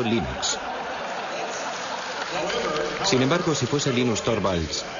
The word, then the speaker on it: Linux: eso se pronuncia Linux Bueno yo Linux lo pronuncio Linux sin embargo si fese Linux no hayuda de que lo pronunciaría este de los Estados Unidos lo más seguro es que lo pronunciaría Linux pero a linus thoral le importa un bledo